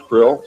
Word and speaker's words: Krll: His name and title was His Omnipotent Highness Krill, pronounced Krill, spelled Krll or Crll.